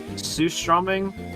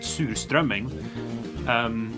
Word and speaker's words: surströmming: It's like surströmming, or as we pronounce it, surströmming, is kind of just like, it's something that usually only sells by the coasts, like the coastal cities.